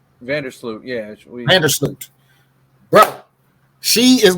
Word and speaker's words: Vandersloot: I can't pronounce this lady's last. She's on Chicago. Her name is Courtney Vanderloot. Vandersloot, yeah.